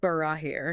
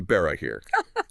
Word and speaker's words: Barahir: I mean, even the mispronounced Barahir. Oh, which, for the record, should be Barahir.